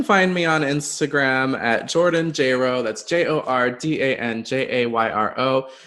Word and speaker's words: Jordan Jayro: me on instagram at jordanjro that's j-o-r-d-a-n-j-a-y-r-o it rhymes with j-lo don't